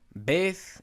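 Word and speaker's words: בּ: Beth is simply b, and then you have the veth here is pronounced as v.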